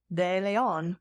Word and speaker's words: DeLeon: I know I say as someone who is Hispanic de Leon why did I say